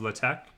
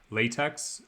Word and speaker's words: LaTeX: sort of subset of la tech um which uh you probably you know most of you will probably know as latex um only nerds pronounce it latex but that's uh how it's pronounced um so i'm i